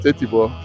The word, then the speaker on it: Etibo: So they call it 8 bob, 8 shillings, but our people in their own language call it Etibo. That is why we are now using it. Etibo is an Africanized pronunciation of the names I have earlier called.